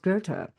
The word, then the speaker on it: Goethe: So you wouldn't be like, oh yeah, obviously that's pronounced Goethe.